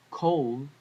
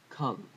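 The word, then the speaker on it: כל: Kol is all. I believe in ancient Hebrew it should be pronounced different, like kal or kel.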